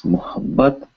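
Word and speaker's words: मुहब्बत: And this is muhabbat. Muhabbat. Muhabbat. It's really hard to not have the pause there once you learn how to say it.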